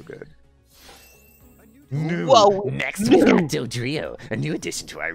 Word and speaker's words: Dodrio: sky looks so good next we're going to dodrio a new addition to our research uh it's pronounced dadrio it's not a bad shot at all other